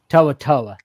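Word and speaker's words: To'oTo'o: Henry toa toa. Thank you, coach. Henry toaoa and Christian Harris are the latest examples with Jahed Campbell set the show.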